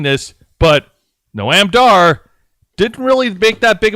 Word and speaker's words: Noam Dar: Not Noam, Noam? Noam Dar. That's how it's pronounced.